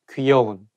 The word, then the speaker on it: 귀여운: to make Sure that you say not ke 귀여운 and If you know the word 귀염둥이 Which